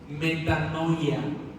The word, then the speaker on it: metanoia: Preparando a la Iglesia, subtítulo Metanoia, así como se escribe, meta, no, y latina a metanoia. Preparando a la Iglesia, metanoia.